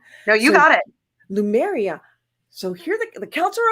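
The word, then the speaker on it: Lemuria: like venerate their dead in this holiday called Lumeria. Lumeria, right? Did I say it right? That's correct. Correct me if I say anything wrong. No, you got it. Lumeria.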